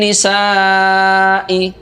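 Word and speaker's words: نِسَاءِ: Selanjutnya ada kata walin nisa'i. Nisa'i dibaca panjang sampai dengan 5 harokat, disebut dengan mad wajib muttasil.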